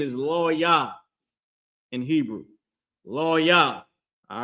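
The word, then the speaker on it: לוי: But Levi, the tribe of Levi, or the so-called Haitians, their name is Lo-Yah in Hebrew. Lo-Yah, all right? Lo-Yah. And that's how you pronounce their name, okay?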